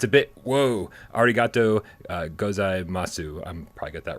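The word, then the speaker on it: ありがとうございます: It's a bit, whoa, arigato gozaimasu. I'm probably got that wrong. Hashtag higher pants for AJ. Did I pronounce that totally incorrectly?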